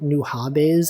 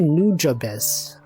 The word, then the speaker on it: Nujabes: you all know that his name is not new hobes I always thought it was pronounced new hobes it's actually nujabes I learned I looked it up it's nujabes